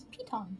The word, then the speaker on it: piton: like an emergency escape google says the pronunciation is piton piton i like that i